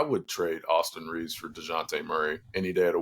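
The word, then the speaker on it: Dejounte: the Lakers I think Deontay Murray or dejonte Murray as it's pronounced I think he'd be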